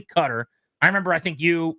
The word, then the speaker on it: Qatar: It's It's Qatar versus cutter where it's actually cutter.